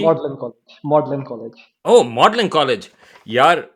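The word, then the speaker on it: Magdalen: से वो निकला होगा, तो यहाँ पे जी वहीं साइलेंट से हो है, गया। वहीं से है, लेकिन 500 साल पहले इसकी प्रोनाउंसिएशन डिफरेंट थी।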